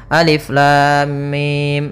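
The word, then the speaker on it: الم: Maka cara yang benar membacanya adalah seperti ini: alif lam mim. Panjangkan dulu lamnya. Kita ulang kembali: alif lam mim. Nah, di sini mimnya termasuk mad lazim harfi mukhaffaf, yaitu kita panjangkan dengan panjang 6 harokat pula, tapi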